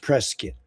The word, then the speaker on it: Prescott: It's like brisket, you know, um What's better than hugs?